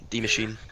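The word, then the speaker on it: Die Maschine: isn't it no it's it's D it's German D machine I can't stop seeing flash Houston just trailer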